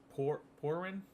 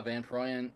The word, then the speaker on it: Van Prooyen: Um, is it Por Porin? Uh, Van Puan.